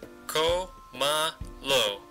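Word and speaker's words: cómelo: sound of the verb it generally goes three syllables from the end co ma lo co is the third syllable back try using a pronoun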